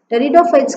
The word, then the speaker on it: pteridophytes: Pteridophytes ku p silent, you should pronounce it from t only.